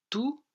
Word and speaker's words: tous: vont comprendre cette leçon ici je prononce tous tous pour quelle raison je remarque comme tout